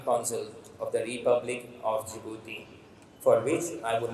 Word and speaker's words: Djibouti: like many of you, even I used to call it Djibouti. So the pronunciation is Djibouti and not Djibouti.